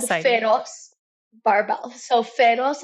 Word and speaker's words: Feroz: So Feroz in Spanish means fierce, and it's spelled Feroz, and it has all the letters of my name as That's well.